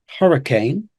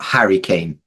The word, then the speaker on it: hurricane: words so for pronunciation we have hurricane hurricane H hurricane so watch out for that one hurricane yeah not Harry Kane not Harry Kane great